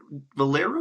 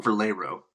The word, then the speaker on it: Valero: Is it Valero or Valero? Valero. Valero. Yep. I don't know why. I like I like to pronounce the E like an A like Valero.